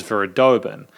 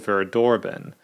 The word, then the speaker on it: Verdorben: start of the review I incorrectly uh pronounce the the name of the song as Vera doben the song is actually called Vera doroben this is by aphrodia